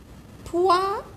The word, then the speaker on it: poisson: شوفوا الاس هاوليك جارو منا فويل، الاس جارها منا فويل، شوفوا راهي بين دو فويل، بصح انا نطقتها سا. كيفاش حتى نطقتها سا؟ على خاطرش دوبليت لها الاس يا اخي، باش ما ننطقهاش اس.